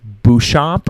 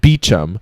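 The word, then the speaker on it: Beauchamp: the book um so his last name was spelled b e a u c h a m p I was thinking like bamp or something like that um no his pronunciation he says it's pronounced beum so in what world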